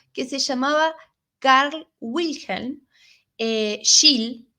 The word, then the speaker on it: Scheele: Bueno, todo comenzó en 1776, donde un farmacéutico que se llamaba Carl Wilhelm Scheele, acuérdense de esta palabra, Scheele, o se pronuncia Schele, pero creo que se pronuncia Scheele, o Scheele, realizó experimentos con unos compuestos de arsénico que eran solubles, ¿verdad?